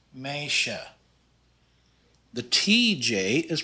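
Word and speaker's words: meisje: with an s and s j sound is pronounced like an sh in english so this is pronounced meisha the tj is pronounced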